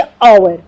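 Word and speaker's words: hour: Okay, जैसे ओवर, यहाँ पे हम क्या करेंगे, एच साइलेंट है तो साउंड कौन सी आ रही है, वॉवल की।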